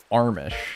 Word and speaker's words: Amish: Or as they like to say, Armish. They say it like Armish.